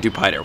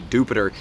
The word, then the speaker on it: Dewpider: if you watched trainer tips video it is pronounced jupiter on dewpider i was calling it dewpider we'll call it dupider because i like to